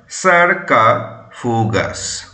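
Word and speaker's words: sarcophagus: এ জি ইউ এস কি উচ্চারণ হয় উচ্চারণ হয় সারকা ফুগাস সারকা ফুগাস এস এইচ এ আর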